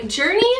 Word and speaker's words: Jurni: I also just wanted to say really quickly that this video is being brought to you by Journey. It's spelled J U R N I.